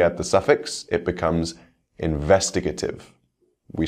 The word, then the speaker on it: investigative: First, words ending in ative. For these words, we stress the same syllable as the root word.